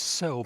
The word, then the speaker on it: Cirl: So basically the cell bunting C I R L the C is pronounced S.